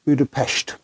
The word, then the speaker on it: Budapest: own history too and you'll find the locals pronounce it Buddha PES now we found it